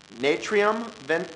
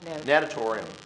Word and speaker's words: Natatorium: This is Natrium Ventilation Project. Did I pronounce that correctly? Natatorium. Excuse me.